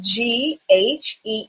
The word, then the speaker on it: ghee: And just so people know, it's spelled Ghee, and it's pronounced ghee.